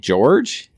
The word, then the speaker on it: George: I think you say it, George. Yeah, it's George. That's what he said Jorge. last night. No, it's George.